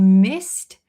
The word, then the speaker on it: missed: So the answer is we missed past tense, we missed the bus. We missed the bus. So here, missed, this D, ED, is a little bit pronounced like a T sound, right? Missed.